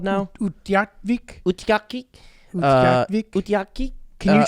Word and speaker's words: Utqiagvik: Okay, guys, everyone listening, it's spelled UTQI, which I've never seen without a U. UTQIAGVIK. Utqiagvik. I'm not looking at the pronunciation. Utqiagvik. And this is it. Oh, Julia, you're pretty close. I actually think you said it right.